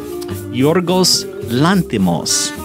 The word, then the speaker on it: Yorgos Lanthimos: Yorgos Lanthimos. Cole is saying that right because we just had the computer tell us how to say it, and it sounded just like that.